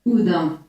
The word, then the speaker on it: Houdin: Decime cómo se dice en francés. Houdin. Houdin. No lo voy a decir así, obviamente. Así que va a ser Robert Houdin.